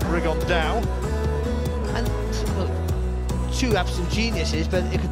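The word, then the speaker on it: Rigondeaux: And Tete's talked about fighting Rigondo, or as he's correctly pronounced with the Spanish accent, Rigondao.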